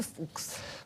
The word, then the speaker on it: Fuchs: então da distrofia de Fuchs, que eu não sabia pronunciar, fui aprender. Mas é exatamente assim que se diz. E a minha produtora fomos aprender a dizer, e diz-se distrofia de Fuchs.